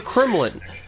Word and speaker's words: Kremlin: Why is he called the Kremlin? It rhymes with gremlins.